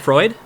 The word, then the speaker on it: Freud: I mean, how do you pronounce his name? Freud? F-R-E-U-D? Oh, Freud?